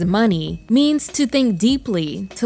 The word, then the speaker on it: Muni: money long she says the name mewni which she pronounces as money means to think deeply